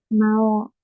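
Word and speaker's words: 魔王: ma como vocabulario tenemos Mao esta u no se pronuncia sirve para extender la o Mao Mao y Aunque suene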